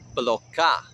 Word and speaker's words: Bloká: Both words have an emphasis on the second syllable. Kokóyahaŋla, Bloká.